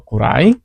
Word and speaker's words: くらい: Ha minasang itu namanya gurai atau kurai.